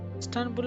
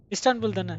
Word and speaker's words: Istanbul: Stanbul or how do you pronounce Stanbul? How do you pronounce that? Istanbul. Istanbul. He may be dear.